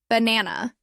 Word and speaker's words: banana: For example, in the word banana, the middle syllable is stressed.